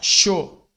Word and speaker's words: chaud: Outro erro do brasileiro é ler as consoantes finais sem uma vogal. Por exemplo, aqui, ó. Aqui se escreve assim, né? Com a letra D no final. Mas a gente fala chaud.